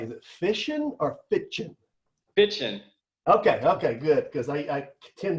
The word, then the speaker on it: Fitschen: Now, let me make sure I pronounce this right. Is it Fitschen or Fitschen? Fitschen.